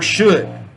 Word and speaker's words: should: and should is that you do not pronounce the L and either of these words is just could or should all right for the